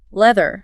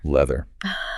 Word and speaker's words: leather: So put your tongue between your teeth and let the air flow out gently. Leather. Leather.